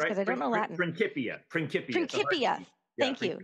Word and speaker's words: Principia: Principia.